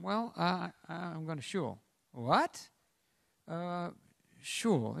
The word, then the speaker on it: shul: i i'm going to shul uh sure it rhymes with cool but it's not and and she's she